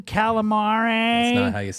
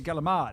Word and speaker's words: calamari: All the Medigods say, "Can I have some calamari?" That's not how you say it. That's not here. how I say it. Nope. I say galamad. Galamad. Give me some galamad. That's how they say it in Italy.